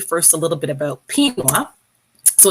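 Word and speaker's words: Pinnguaq: So I'm going to tell you first a little bit about Pinwa. So it's pronounced like quinoa, but with a P.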